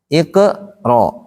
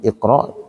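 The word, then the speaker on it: اقْرَأْ: Iko, ro, bukan ike, ro. Di Quran tuh ya, cara baca kalimat ikro, iko, ro.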